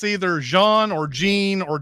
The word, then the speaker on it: Jean: Our movie opens up on our hero, and it's either Jean or Jean or John. I'm gonna go with John because I don't want to say this French pronunciation all the time.